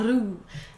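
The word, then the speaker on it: roux: And about the same amount of flour, and you're going to make what they call a ru, which is actually pronounced a rue if you live in North America.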